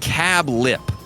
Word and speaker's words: Cabulp: We look forward to dining with you at Cabulp, pronounced Cab Lip, semicolon.